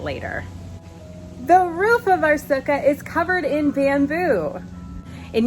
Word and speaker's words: sukkah: still sounds like klingon okay so that's my zuka this is my sukkah let's get back to sukkot so like i